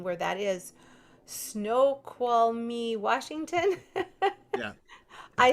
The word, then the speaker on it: Snoqualmie: And there's a really very long name where that is, Snoqualmie, Washington.